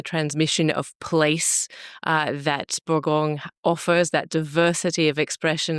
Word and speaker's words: Bourgogne: Is it pronounced Bon or Bona? It's Borgong.